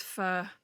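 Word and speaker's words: pho: It's pronounced fur, but I can't I don't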